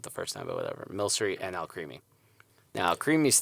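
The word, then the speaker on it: Milcery: pokemon sword and shield there's a pokémon called mill sory and which i just mispronounced it the first time but whatever mill sorry and I'll creamy now creamiest thing it's this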